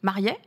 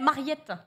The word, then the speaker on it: Mariet: Mariet, c'est ton nom. T'as prononcé mon nom correctement. Pourquoi les gens Et disent lui, quoi les gens disent Mariette.